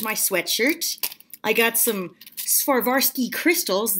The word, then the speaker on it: Swarovski: I got some Swarovski crystals. That's not how you pronounce it. Swarovski. I'm pretty sure I'm saying that completely correctly.